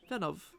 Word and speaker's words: Venov: Is it, would you prefer Ven or would you prefer Venov? Venov. Like Venom, but with a V.